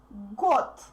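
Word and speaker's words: год: because voiced consonants becomes voiced consonants become voiceless in the end of their words so it's not good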